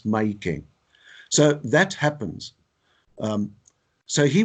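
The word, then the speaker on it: Mahikeng: It's not Mafeking, it's Maikeng.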